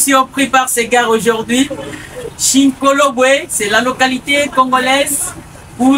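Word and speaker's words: Shinkolobwe: Chinkolobwe, c'est la localité congolaise où l'uranium est exploité. Voilà, merci beaucoup Chinkolobwe.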